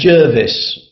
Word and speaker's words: Gervase: j should be pronounced if it's in English it's Jervis my parents always call me Jervis but it became